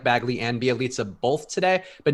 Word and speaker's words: Bjelica: Bjelica. Yeah, that's how that goes. I can pronounce her name.